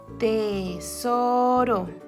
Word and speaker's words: tesoro: Tesoro, tesoro. Está entre dos vocales.